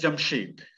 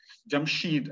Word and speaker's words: Jamshid: literary iranian language is found as jamshed jamshid as iranians would pronounce it so jamshed is uh